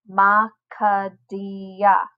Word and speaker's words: Makadia: many parts there are let me try with mine ma kadia ma khadiyah that has four syllables because i pushed out